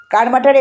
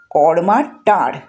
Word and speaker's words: কারমাটার: সুনীল গঙ্গোপাধ্যায়ের লেখায় পাই বাঙালি উচ্চারণে কর্মাটা। আসল নাম কর্মার টার অর্থাৎ কর্মা নামের এক সাওতাল মাঝির টার। মানে উঁচু জায়গা যা বন্যাতে কখনো ডোবে না।